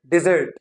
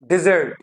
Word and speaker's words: dessert: नाउ the pronunciation of this word is डिजर्ट, that was desert, now this is dessert, dessert, dessert, now you see dessert, डी पे नहीं जर्ट पे जो है आपकी क्या जा रही है, आपका स्ट्रेस जा रहा है, डिजर्ट, जर्ट।